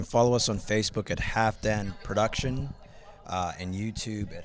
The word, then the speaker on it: Halfdanr: let him do it half dan the f is a v and the r is silent i was going to